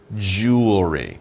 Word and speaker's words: jewelry: you think about it it sounds like two sounds jewel re but jewel jewel is